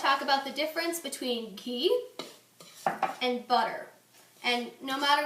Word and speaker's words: ghee: that when you cook ghee pronounce the h very strongly you cook it you